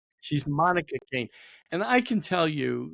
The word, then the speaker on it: Kain: Monica Kane. And Monica with a K. M O N I K A. And Kane. K A I N. Like Cain and Able.